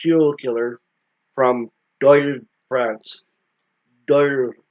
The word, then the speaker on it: Dole: killer from do brance do do is d o l e but if just the way you guys want to pronounce it but I pronounce it that da because I'm par princh